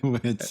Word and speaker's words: Wits: So it pronounced Wits. It's Wits, yes.